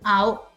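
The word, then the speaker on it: あお: and then I'll just show you what the pronunciation is. Okay, so it's ow, ow.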